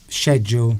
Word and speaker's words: schedule: Duncan said, if you think of it like school, schedule, school, very similar.